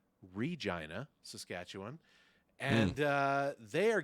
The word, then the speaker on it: Regina: Canada a very small city called let me pronounce this correctly Regina Saskatchewan and uh they are getting a Saturday